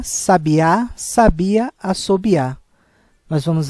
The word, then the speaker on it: sabiá: nós vamos verificar que na primeira palavra sábia o som mais aberto a sílaba tônica é no sa enquanto em sabiá a sílaba tônica é no último a sabiá enquanto a palavra